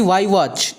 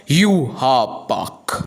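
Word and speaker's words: Yhwach: तुम कहोगे कि वाई वॉच, नहीं, इसका प्रोनाउंसिएशन होता है यू हा बाक।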